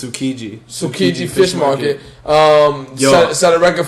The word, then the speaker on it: Tsukiji: I would say you don't pronounce the T. No. So it's Tsukiji Fish Market.